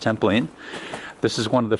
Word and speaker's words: Templin: Alright, this is Tapping the Travels, giving you a bumpy journey down the walls of Templin, Germany, pronounced Templin.